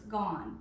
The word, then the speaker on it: gone: What makes this a red word though is that there is a silent E at the end. You don't hear it, but when you spell it, there's an E at the end. So it's gone, G-O-N-E, gone.